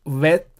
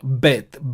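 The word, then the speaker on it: בֵּית: And so it is not pronounced Vet, but Bet, B sound.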